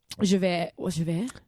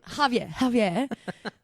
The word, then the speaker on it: Javier: again, the tone that Javert. How do you say his name? Javert? No, what's the... Who are you talking about? No. Javier.